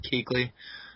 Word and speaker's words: Kuechly: going to get Luke Kuechly, I guess it's pronounced. I thought it was Kuechly, but it's Kuechly.